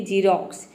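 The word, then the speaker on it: Xerox: तो देखिए जब वर्ड के शुरू में एक्स आता है तो वहाँ पे एक्स को हम ज प्रोनाउंस करते हैं, जैसे कि जीरोक्स। यहाँ पे देखिए एक्स शुरू में आया है तो एक्स का ज हो जाएगा, आई का हो जाएगा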